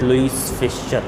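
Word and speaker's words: Louis Fischer: The spelling shows it Louis Fisher, but the name will be pronunciated as Louis Fisher.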